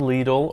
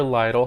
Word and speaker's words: Lidl: shop at a place called lidl or lytle however you want to pronounce it and there's another place